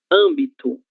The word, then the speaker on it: âmbito: Âmbito, acento circunflexo, a mesma coisa. É a nossa sílaba tônica. Ela é acentuada graficamente com o acento circunflexo, ok?